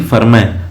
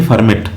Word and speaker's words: Fermat: बता दूं आपको कि जो नाम है इनका एफ ई आर एम ए टी लिखा जाता है। लेकिन इसका प्रोनाउंसिएशन होता है एफ ई आर एम ए एच यानी फरमय ना कि फर्मेट। फर्मेट नहीं बोलते हैं इसे हम। इसे हम फरमेय बोलते हैं। इसको प्रोनाउंस किया जाता है फरमैय।